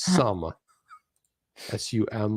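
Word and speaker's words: Xumm: but it's pronounced according to win it's a pronounced some as you am like some of the hey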